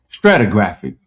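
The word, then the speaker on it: stratigraphic: Stratographic. It's the strata. All right. Stratographic. That's how you say it.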